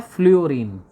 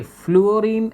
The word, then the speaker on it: फ्लूरीन: के बाद आता है फ्लोरीन देखि फ्लोरीन एक्चुअली क्या है कि हम लोग इसको क्या कहते प्रस गलत करते हैं एक्चुअली फ्लूरीन होता है एफ एल यूओ